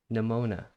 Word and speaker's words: Nemona: Nemona.